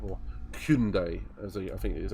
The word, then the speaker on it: Hyundai: Maybe 2 weeks ago, and ripping around in a Group 4 Hyundai, or Hyundai, as I think it is actually pronounced.